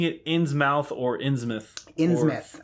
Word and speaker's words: Innsmouth: Are we pronouncing it Innsmouth or Innsmouth? Innsmouth. I come from the New England area. It is Innsmouth.